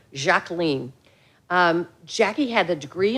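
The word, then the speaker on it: Jacqueline: fact as I mentioned she preferred the French pron pronunciation of her given name jacen um Jackie had a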